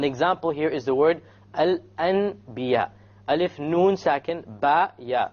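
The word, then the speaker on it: الأنبياء: Here we have noon, sakin, al-an. But it's followed by a ba. So we don't pronounce it al-an. We change the noon into a meme. And then we do a ghunna.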